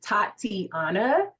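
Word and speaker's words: Tatiana: mentioned because she has a beautiful name that has four syllables like her mom well four syllables so it's tati Anna and so it doesn't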